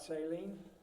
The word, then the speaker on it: Saline: And Saline? Is that how you pronounce it? Yeah. It's not Celine? If you want, Celine is even better, I'll take it.